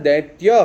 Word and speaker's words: दैत्य: वैसे इसका शुद्ध उच्चारण दैत्य है।